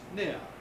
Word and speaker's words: near: away far out and with the opposite word near in isolation it's pronounced near but in a phrase like near enough then you get the r near enough again you